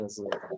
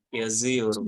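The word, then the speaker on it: yazıyorum: Misalkan ben yazmak nih, yaziorum, bukan ben yazmak tapi yaziorum. Karena ada imbuhan isimnya apa dhamirnya Bu ya, teman-teman. Ben Yaziorum bacanya yaziorum.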